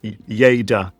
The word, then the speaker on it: Lleida: I'm really happy to talk about our territory, Yada. And and I'm excited to learn. First of all, I had to Google how to pronounce your region and it's Ya, correct?